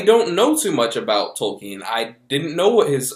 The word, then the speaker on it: Tolkien: an alliance an invincible alliance a fellowship tokine as the movie tells you it's pronounced is a biopic about jr.